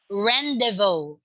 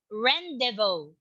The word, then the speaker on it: rendezvous: two all right okay it is silent z and s rendezvous all right can you say it again jaren rendezvous all right very good